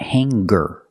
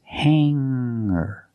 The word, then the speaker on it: hanger: clothes on a hanger remember hanger does not have a hard G sound it's not hangar it's hanger make the sound in your nose and then ER hanger I hang my